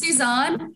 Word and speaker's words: Suzanne: okay um so uh my name is pronounced suzanne i said it right last month you did you did